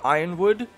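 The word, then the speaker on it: Yronwood: You could say Ironwood. To me, it's not Ironwood. To me, it's something else, and so I just say Yornwood or Yornwood. I don't know. It's hard to pronounce if you don't want to go with Ironwood.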